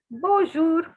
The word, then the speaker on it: bonjour: they love skipping alphabets so the n is not to be pronounced it's a nasal sound okay it's not to be pronounced and the word for hello is bonjour bonjour okay it is not bonjour please please please note it is not bonjour it is bonjour okay this word is going